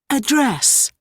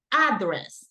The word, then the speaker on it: address: Sometimes people mispronounce this word. People say address, and that is not the correct pronunciation. It's address. Just remember this. It's similar to pronounce Andres, right? So Andres, address, right? Over there, you have the syllables stressed.